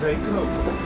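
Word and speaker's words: THAC0: I believe it's pronounced Seiko.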